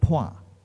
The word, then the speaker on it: Phua: don't understand that when you say phua in singapore it is poi over there some people say and actually one of the speakers online will say paten well because that's the correct chinese trans pronunciation but anyway what we